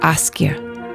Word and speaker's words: Ásgeir: um were lovely people but ask gear yeah that right yeah almost pretty much it yes man yes i've